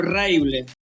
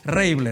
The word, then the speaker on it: Reibl: Es Reible o Reible. Don, ¿cómo le va? Hola, ¿qué tal? ¿Cómo anda, Farinia? Mirá, mi nombre es Reible. ¿Sí? Ajá, Reible.